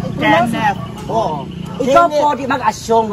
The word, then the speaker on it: Kenneth: Sa di check ka ng kinit. Ay, say magati pagjuta. Kinit. Mamasa ko yung ganina no. Giuyab daw na ko. Ngano mo pula Lahi ako pasabot ikaw di ka kabalo mo pronounce. Ano makakinit? Kenneth.